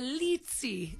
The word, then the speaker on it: Lzzy: I hear Mama Mia lzy they call me litzy there and I guess it's like pizza I don't know place pronounces